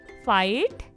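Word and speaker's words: fight: तो हमारा आंसर होगा द साउंड ऑफ के इज साइलेंट, ठीक है। अब हम चलते हैं सेकेंड लाइन पे। नेबर, डॉटर, फाइट और स्ट्रेट, NAI ने, GHPOUR बर, ठीक है।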